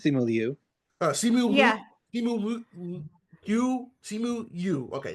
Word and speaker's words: Simu Liu: Is it pronounced Simu? Yeah, I think it's Simu Liu.